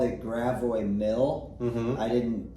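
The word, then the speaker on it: Gravois Mills: house in gravo Mill gravo Mills now is it grao gravo I I've always left the S as silent on both which let's be honest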